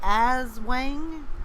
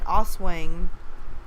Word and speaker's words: Aswang: Is that how it's pronounced? Because I know I was saying Oswang. So is it Aswang? Because the pronunciation where they have it, it has it like A-E. Like they're trying to break it down how to pronounce it. So it's like swang.